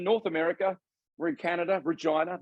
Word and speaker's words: Regina: America we're in Canada Regina the town that rhymes with fun and uh and uh